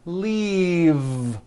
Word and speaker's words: leave: The word is leave with a voiced V. Keep the voicing going throughout the whole word and voice the V. Leave, like that. If you stop the voicing at the end of the vowel E, then you would be saying leaf with an unvoiced F. And the word we're trying to say is leave with that voiced V.